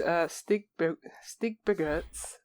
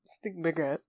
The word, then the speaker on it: Stigbergets: This is Stigbergets. That's how you say it. Stigbergets. Stigbergets and Verdant.